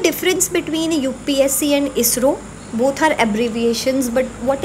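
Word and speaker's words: ISRO: आर ओ बन गया इसरो। अब ये जो आपकी शॉर्ट फॉर्म है इसको भी हम एज अ नेम प्रोनाउंस कर रहे हैं।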